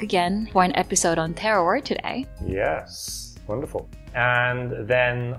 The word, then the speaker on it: terroir: to pronounce it. Okay. The word is terroir.